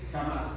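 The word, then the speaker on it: חמאס: Pero miren, la palabra en hebreo es jamás, se escribe así. Jamás. Jamás. Pero se pronuncia así. Jamás.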